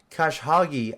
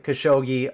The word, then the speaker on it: Khashoggi: one right when the journalist uh Jamal uh Kash Hagi I don't know if I'm saying that right khashoggi okay I don't want to pronounce anything wrong but I'm sorry for that